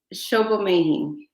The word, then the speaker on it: Sobomehin: So pronounce that last name for me. Please. Sobomehin.